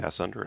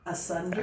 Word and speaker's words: asunder: I would pronounce that asunder. Ass under at 33. I like it over than you pronounce it better. Asunder.